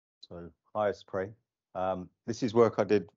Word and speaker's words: HyStorPor: So I think it's pronounced as in let us pray. So HyStorPor.